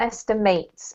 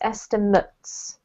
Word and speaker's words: estimates: um from the top this one is estimates not estimates esther mutz estimates correct estimate is the verb so